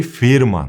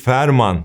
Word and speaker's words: Veerman: Joy Firman yani F ve V'yi biraz birleştirerek okuyorsun ve 2E'yi i ile yapıyorsun. Telaffuza takılanlar oluyor. Ben de ilk Ferman demiştim ama firman olarak okunuyormuş.